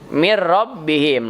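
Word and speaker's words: مِنْ رَبِّهِمْ: lam yang rohnya misalkan mirrobbihim itu tulisnya mint ya tapi karena menghadapi er Oh jadi bacanya Mir mirrobbihim yaitu bilagunnah cuma dua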